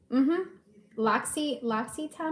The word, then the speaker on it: L'Occitane: L'Occitane, I think it's pronounced. It is not spelled like that.